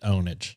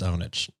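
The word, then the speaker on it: pwnage: mid 2000s sounds familiar it's spelled pure ponage but I think they pronounced it onage yeah I did I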